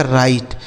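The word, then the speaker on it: write: तो डब्ल्यू यहां साइलेंट है। इसे पढ़ा जाएगा राइट।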